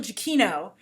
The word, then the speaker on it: Giacchino: I want to make sure I pronounce his name correct. Michael Giacchino, who did a lot of the scores for